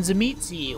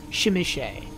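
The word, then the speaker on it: Tzimisce: today are known as Clan zamizi or as it is apparently more appropriately pronounced shimichay now where the Nosferatu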